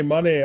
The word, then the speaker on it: Monet: women are talking and one of them says monet money i've heard it pronounced both ways okay now i know